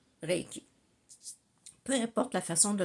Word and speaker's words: Reiki: Il y en a qui disent Reiki, mais je crois que les Japonais prononcent Reiki.